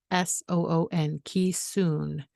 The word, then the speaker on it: Keesoon: i thought well that's a cool name it is spelled this is what i have now as a memento k-e-e-s-o-o-n ki soon and there's his paw print which was hard